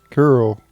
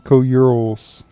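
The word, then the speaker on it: Coeurl: Curl. That's how you pronounce them. Okay. I don't think I've ever heard that being pronounced in any Final Fantasy game. I always called them co-urals.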